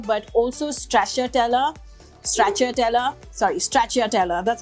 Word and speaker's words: Stracciatella: the buffo mozzarella but also Stracciatella Stracciatella sorry Stracciatella that's how it's pronounced I love the Stracciatella cheese because it's